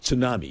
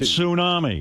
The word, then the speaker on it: tsunami: There's a T in front of that word. It's pronounced tsunami.